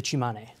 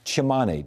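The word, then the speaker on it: Tsimane: All right, this is, pronounce the name for me? The Chimane. Chimane.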